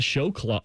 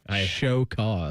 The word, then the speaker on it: show cause: The Jim Harbaugh show clause. Show say it right. Show cause.